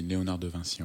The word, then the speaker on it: Léonard de Vinci: Vinci, en prononce. Oui, en français, tu dis Léonard de Vinci.